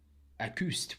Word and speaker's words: Écoust: Whenever they were in a trench, whenever Schofield's in the city of, or town of Écoust. Écoust, well done. Excellent French pronunciation.